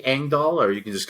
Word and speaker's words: Engdahl: me uh on Amazon the last name is uh kind of weird it's Swedish so it's spelled in a way you probably wouldn't imagine it's e n Diaz